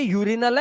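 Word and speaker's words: urinal: उच्चारण क्या करना है यू का उच्चारण आपको यू ही करना है इसीलिए इसको अनियन नहीं पढ़ेंगे अनियन तो प्याज होता है भाई यह यूनियन है यह यूरिनल है अरिनल नहीं करना इसको इसलिए इसको अनट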